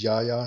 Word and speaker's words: Yahya: called him, he said his last name was Yahya. It was pronounced like that, and it's spelled the exact same.